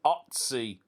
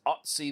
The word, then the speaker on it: Ötzi: His name is Ötzi. I think that's how you pronounce it.